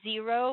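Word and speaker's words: Xero: there's fresh books uh there's zero which is spelled x-e-r-o not z e r o uh there's another one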